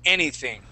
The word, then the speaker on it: anything: So we're going to practice the TH sound here on this word, anything. Try that. Anything. Okay. Anything. Anything. Okay. So we're going to stick our tongue between our teeth and we say thing, anything.